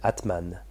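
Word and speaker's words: Âtman: faire une recherche tu vois c'est latman ça s'écrit a accent circonflexe t m a n Atman et qu'est-ce qui est dit B c'est le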